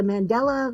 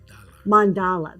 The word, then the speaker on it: mandala: It reminds me of one of those, what is it, the Mandela, like the designs are on the coloring books and stuff that are so pretty. That's what this reminds me of. Mandala.